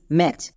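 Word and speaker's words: match: আসো এখানে টি সিএইচ এখানে টি সাইলেন্ট থাকবে কারণ আমরা জানি শব্দের শেষে যদি টি সিএইচ থাকে তার জন্য শুধুমাত্র চো ইউজ করতে এখানে টিটা সাইলেন্ট অটোমেটিক হয়ে যাবে। তাহলে টি সিএইচ এর জন্য চো। তাহলে এর উচ্চারণ কি হলো? এম এটি সি এইচ ম্যাচ।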